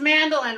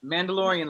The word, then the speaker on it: Mandalorian: It's Mandolin, right? Is that I said it right? Genetics, Mandalorian. Mandalorian, like Mandalorian.